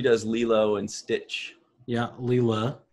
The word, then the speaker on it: Leela: lilo and stitch yeah leela correct the correct way to say that is leela ryan loves to say